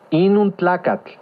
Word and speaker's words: inuntlacatl: Inuntlacatl. ¿Escuchaste con atención? Inuntlacatl. Recuerda que en el náhuatl las palabras se acentúan en la penúltima sílaba.